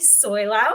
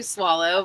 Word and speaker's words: Soileau: and following your instincts is our guest Soyo. Is am I pronouncing it correctly? It is tricky. It's actually swallow, but literally it's 1%.